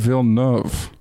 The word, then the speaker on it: Villeneuve: Denis Villeneuve. Yeah, I think that's right. Though I read online, we should have a special pronunciation episode. I read online the V is not silent. Denis Villeneuve.